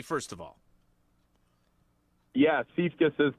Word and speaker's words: Siefkes: All right, so Siefkes, are we pronouncing that correctly, first of all? Yeah, Siefkes is correct.